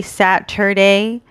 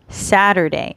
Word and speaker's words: Saturday: be okay so remember in american english we do not pronounce the t a lot of times it sounds like the letter d so you can say saturday but it's kind of